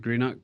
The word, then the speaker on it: Greenock: HomeTown back in Scotland so I'll let you pronounce it well uh I grew up in a town called Greeno um which is on the west coast of